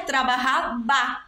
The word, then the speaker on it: trabajaba: Porque a letra V, em espanhol, ela tem som de B. Então, mesmo que a palavra em espanhol fosse escrita trabalhava, a gente pronunciaria trabajaba, porque o V tem som de B.